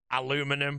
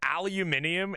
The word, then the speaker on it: aluminium: Aluminum, bro. Aluminum and aluminium is honestly probably the most wild one. I'll be deadly honest with that. In the UK, we pronounce aluminum as aluminium.